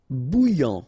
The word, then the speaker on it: bouillant: Bouillant, final T not pronounced. A and together, remember, nasal, en, okay? And then here you get bou, alright? And after that you get this yan, okay?